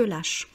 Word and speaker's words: lâchent: troisième personne du pluriel, même conjugaison avec ENT à la fin, mais bien sûr on ne dit pas en, on dit E. Il se filme, les gens se lâchent.